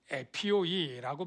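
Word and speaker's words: ἤπιοι: 왜 그러냐면이 헬라어를 저와 여러분이 뭐 잘 모르지만 이렇게 유순한 자 저 헬라어는 저게 에피오라고 발음을 하고요. 어린아이는 네피e입니다. 거의 발음이 비슷하고 철자도 하나만 앞에 달려 있습니다.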